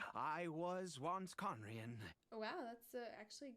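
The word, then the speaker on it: Khaenri'ah: Ida and you are correct I was once conrien oh wow that's actually a good pronunciation I apologize for my earlier hostility but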